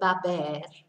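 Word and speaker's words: haber: we're taking this verb a bear and it's a very strange little conjugation so bear in mind we don't pronounce the H so it's a ass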